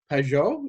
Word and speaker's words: Pageau: I've had people get on my blog, on my channel, and said, you need to talk to Jonathan Pageau. Is that right? That's right. You got the right pronunciation.